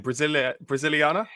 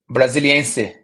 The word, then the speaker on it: Brasiliense: Well, I can't quite pronounce the club. Could you say it again? Brasiliana? Brasiliense.